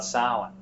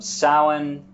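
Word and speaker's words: Samhain: a little bit about Salan the MH is uh a w sound it can also be a v s-a-m-h-a-i-n is the usual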